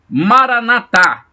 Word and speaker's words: maranata: são paulo que é maranata com assento na última sílaba como gostam de dizer